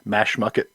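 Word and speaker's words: Mashamoquet: but it was actually had to ask one of the park rangers several times how to pronounce the name of it but it was mash mucket brook creek state park up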